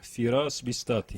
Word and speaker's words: Firas Bistati: Ortodoxa aqui na cidade de Anápolis, o padre Firas Bistati. A pronúncia está correta, padre? Primeiro isso. Está correta, certo. Então fale nas suas palavras, então. Não, Firas Bistati.